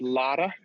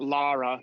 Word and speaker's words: Lara: just remind everybody it's lada like it's it's it's almost it's not an r sound not lara but lada oh i oh laurie